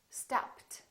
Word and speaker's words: stopped: However, here we don't say stopped and we don't say robbed. So the rule changes. Listen to this one: stopped, stopped.